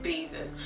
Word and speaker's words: Basis: And in German it is pronounced, guess, Basis. Like I told you, S in English is pronounced Z in German, so you say basis, not basis.